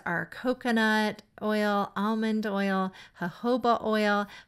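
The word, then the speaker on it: jojoba: coconut oil almond oil hoba oil hoba oil is spelled j o j o ba a and these can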